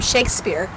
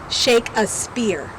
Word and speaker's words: Shakespeare: a passage from William Shakespeare, but I lacked so little knowledge, and I was so unaware of things that I pronounced William Shakespeare's name as William Shake-a-Spear.